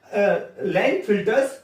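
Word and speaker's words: Klinefelter: लाइन फिल्टर्स syndrome, इसमें के silent होता है, तो लाइन फिल्टर्स सिंड्रोम, ठीक है।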